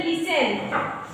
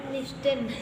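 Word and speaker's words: listen: And next T silent, ठीक है, T letter के साइलेंट, 10 और 10 में साइलेंट होता है। जैसे लिसन, आपका क्या हो गया LI, लिसन बोल देते हैं, क्या बोलेंगे लिसन, लिस्टन, हाँ लिस्टन मत पढ़ना है ना, टापटी।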